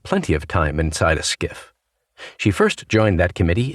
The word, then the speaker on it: SCIF: They call it a SCIF, pronounced skiff.